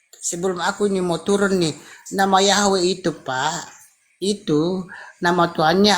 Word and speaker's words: Yahweh: Nah iya memang benar ya, dibaca Yahweh.